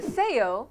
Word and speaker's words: ceceo: the spanish lisp the theo with two c's is the sound english speakers identify as the spanish lisp it takes place when the letters s c before e and i and z are pronounced the same as the english th as in thing mostly used in spain